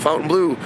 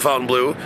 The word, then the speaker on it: Fontainebleau: the Fontaine Blue the fountain blue some people pronounce it one way I pronounce it Fountain Blue that's basically uh the